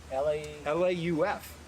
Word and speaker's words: Lauf: How do you spell it? L-A-U-F.